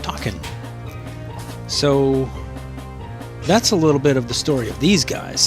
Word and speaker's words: Takin: And apparently it's pronounced Takin.